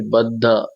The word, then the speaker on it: बद्ध: फिर बद्ध, द नीचे आधा ध बना हुआ है, तो शब्द को तो हम दोनों को उच्चारण करना पड़ेगा, तो हम उसके ऊपर जोर देते हैं।